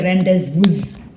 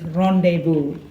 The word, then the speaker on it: rendezvous: intelligence and Group three rendezvous rendezvous now remember the way you pronounce it is different to the spelling you don't say render smooth its rendezvous remember it's French they're going a bit